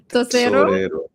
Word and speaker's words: Tesorero: You want it with the Spanish accent? Sure, why not? Let me say it properly. Tosero. Tesorero.